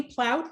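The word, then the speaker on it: Plaut: thanks hi this is plowed rhymes with sauerkraut chair george commissioners and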